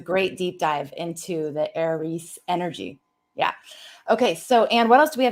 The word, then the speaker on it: Aries: you're interested in understanding the heiress which i have now learned it it's supposed to be aries if we were gonna if we were gonna pronounce it correctly aries okay well you know it's the origin of eric and aaron okay you know any aaron's or eric's they tend to be you know that i'm doing the celtic pronouncing but yes you do the greek yes it's aries yeah we are i people